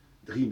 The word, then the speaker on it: dream: Dream, ça s'écrit EA, mais ça se prononce dream.